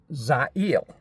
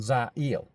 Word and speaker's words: Zail: It's Zail. It is like the name Neil with a Z, but you say it like with the emphasis on Zail.